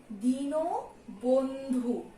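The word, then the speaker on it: দীনবন্ধু: আবারও বলছি, এখানে দেয়া আছে দিন বন্ধু, কিন্তু এটা আমরা উচ্চারণ করি কি, দিনও বন্ধু।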